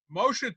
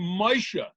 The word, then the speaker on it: Moshe: Well, Moshe is the Hebrew pronunciation, but really?